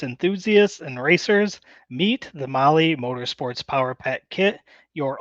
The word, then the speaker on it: Mahle: And for all our podcast listeners, Mali is spelled Mahle. That's right. Well, we want to feature Molly Motorsports co-pilot segment this